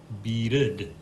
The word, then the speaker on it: beaded: Where we had bead in the past tense, we now have beaded, two syllables. That's because the ED at the end of the verb, yes, is pronounced schwa plus d.